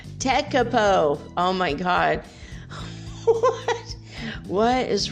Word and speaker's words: Tekapo: Maybe it's not Tekapu. It's definitely not Tekapu. Tekapo.